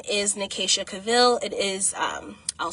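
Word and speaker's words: Nekaycha Cavil: My YouTube channel name is Nicasa Cavil. It is um I'll spell it for you.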